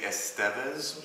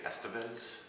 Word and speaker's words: Estevez: your last name again it's officially estevez but it sounds a little more pimp to say estevez so if you want to call me j estevez i'm perfectly comfortable with